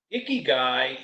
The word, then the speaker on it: ikigai: IKIGAI is pronounced IKIGAI.